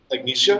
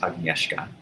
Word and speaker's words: Agnieszka: And then the last party in your table arrives, and it's your aunt, Agnesia. Am I saying that correctly? I wouldn't really know. Okay. It should be pronounced Agnieszka.